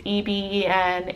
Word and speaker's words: Eben: So it's pronounced EBEN. It's not pronounced EBEN. It's EBEN. It's short. It's only 2 syllables.